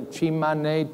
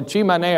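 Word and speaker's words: Tsimane: Anybody here to the Chimane? T-S-I-M-A-N-E. I think that's the proper way you pronounce it.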